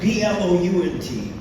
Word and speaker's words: Blount: And in the north, B-L-O-U-N-T, the O is not silent, it's actually pronounced. As in mount or count, it becomes Blount.